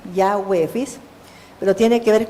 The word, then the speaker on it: Yahweh: Yud, Hei, Bab, Hei, que se pronuncia Yahweh, Yahweh, ¿fis?